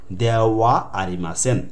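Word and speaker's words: ではありません: এই যে দে ওয়া তেন তেন দে হার পর একটা ওয়া উচ্চারণ হবে দেওয়া আরিমাসেন।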